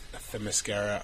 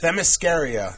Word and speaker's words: Themyscira: It's going to be cool to see, like, Themyscira.